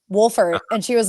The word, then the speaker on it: Wohlfort: Well, she saw my name, Wohlfort, and she was like, wait, hold on. It's pronounced Wolf, right? And I was like, yes, it actually is.